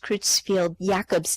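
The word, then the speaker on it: Creutzfeldt-Jakob: butcher the pronunciation here I believe it's pronounced Cruz field Jacobs disease affects one in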